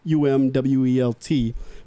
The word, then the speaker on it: Umwelt: Well, it's German. It's spelled UMWELT, but it's called Umwelt.